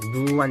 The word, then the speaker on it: 누안: 근데 이제 이 상표가 NUAN, 이거 어떻게 읽어야 될까요? 누안 정도로 읽는 게 맞겠죠.